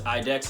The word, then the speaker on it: IDEX: the ticker symbol idex also known as idex is how i pronounce it um ideonomics is been